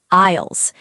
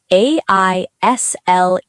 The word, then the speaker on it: aisle: They are called aisles. A-I-S-L-E. Aisle. Be careful, the S is silent. You say aisle, not isle. Aisle. The S is silent, like the word island.